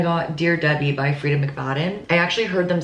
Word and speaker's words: McFadden: I got Dear Debbie by Frida McFadden.